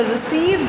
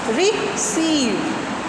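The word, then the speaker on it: receive: तो जो रिसीव जो है, इसमें सीव पर हमारा आप सामने एक मार्क देख रहे हैं, ये मार्क शो कर रहा है कि इस सिलेबल पर स्ट्रेस होगा. यानी जब हम इसको प्रोनाउंसिएशन इस वर्ड की करेंगे तो क्या करेंगे, रिसीव. यानी सीव को हम, ड्यूरेशन भी हमारा उसे बोलने में ज़्यादा लगेगा, पिच भी हमारी हाई रहेगी और वॉल्यूम भी हम थोड़ा सा हाई रखेंगे.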